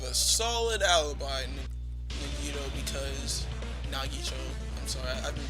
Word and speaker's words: Nagito: Nito, because Nagito, I'm sorry. I've been pronouncing his name wrong all this time.